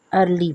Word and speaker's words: early: अर्ली, underline, E-A-R, L-Y, इसमें देखें ईयर के भी स्पेलिंग आ रहे हैं लेकिन उसको हम अर्ली पढ़ते हैं, सुबह सवेरे।